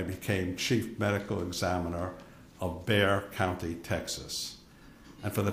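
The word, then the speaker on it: Bexar: chief medical examiner of beay County Texas and for the transcriber bear is spelled be xar the ex asil um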